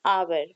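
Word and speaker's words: hour: आ का निकलता है इसको हवर नहीं बोलेंगे इसको हावर भी नहीं बोलेंगे this pronunciation is आवर आवर means घंटा 1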